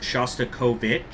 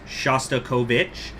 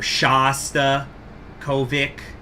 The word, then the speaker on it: Shostakovich: pronounce Russian names, even though his name is pronounced Shostakovich, that's my understanding is the correct way to say it is Shostakovich. I might sometimes accidentally say Kovic, or Shasta Kovic.